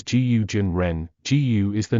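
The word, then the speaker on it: 蛊真人: another name DS gu the Chinese name is pronounced as guu Jin Ren gu is the name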